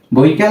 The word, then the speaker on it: বৈকাল: এর উচ্চারণটা হবে কি ব ঐকার বই, ক আকার কা, বই কা। এরপর যদি আমরা ল লিখি তাহলেই হয়ে যাবে কি বৈকাল।